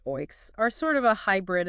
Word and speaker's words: OEIC: OEIC's pronounced oinks are sort of a hybrid in some ways but lean closer to unit trusts in function.